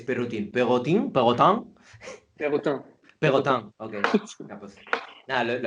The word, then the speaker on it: Perrotin: Bueno, ¿cómo se 2 años, pronuncia en francés Perrotin? ¿Perrotin? ¿Perrotin? Perrotin, Perrotin. Pegotan, ok.